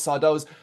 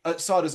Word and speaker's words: Sardo: Of course, Sardo's magic mansion. Of course, and there he meets Sardo. No, mister. Accent on the dough.